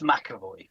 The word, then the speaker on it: McEvoy: How would you pronounce that? It's McEvoy.